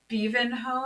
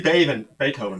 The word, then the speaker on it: Beethoven: Like Wervin, Beavenho? Tremine, Beavenho. Which was supposed to be Beethoven, by the way.